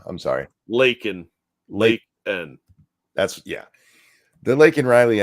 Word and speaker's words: Laken: Laken.